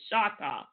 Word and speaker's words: Choctaw: We know that's not the correct pronunciation is Choctaw.